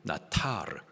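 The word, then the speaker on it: נטר: 원망 히브리식 발음으로 나타르 뜻은 마음에 쌓는 것 앙심을 품는 것을 말합니다.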